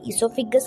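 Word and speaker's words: oesophagus: Pipe तक जाता है, जिसे कि हम ईसोफिगस कहते हैं। यहाँ पर ओ जो है वो साइलेंट रहता है। यहाँ से होते हुए विंड पाइप यानी ईसोफिगस से होते हुए उसके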